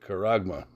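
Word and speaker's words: χάραγμα: Strong's G5480, Charagma. Charagma. But we pronounce it Karagma.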